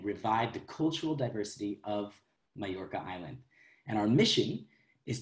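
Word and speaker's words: Mallorca: Majorca is the way you would pronounce that in Spanish. And many people pronounce it Majorca if you're coming from Argentina, for example.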